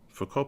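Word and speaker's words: Foucault: talk about focal pendulums four core pendulums I guess they should be pronounced which is a more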